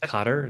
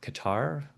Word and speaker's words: Qatar: Uh, but I believe it's pronounced Carter, not Qatar.